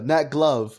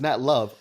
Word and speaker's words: Nat Love: Nat Glove. No, it's Nat Love. Oh my god. Oh, I made a big mistake. Yeah. Oh shit, your dad actually was a nice man. Oh fuck. The G is silent.